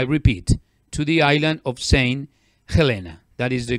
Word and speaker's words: Saint Helena: was excited to the Atlantic a island of Saint Helena I repeat to the island of Saint Helena that is the correct pronunciation and this island is is between Africa